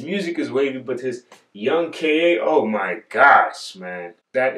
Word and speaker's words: YXNG K.A: Like, I always was like, YXing. This dude said, I'm Young K.A.